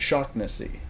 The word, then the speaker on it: Shawnessey: And they were talking about they talk about their local area and their friends, and they pronounced it Shaughnessy, like shock, like electrical Shaughnessy.